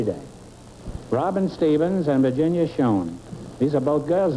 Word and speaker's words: Schoen: Is that the way you pronounce it, Schoen?